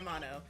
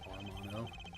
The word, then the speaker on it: Amano: I think we both keep pronouncing it Armano. It's just like when you're saying it quickly, your brain wants to say that.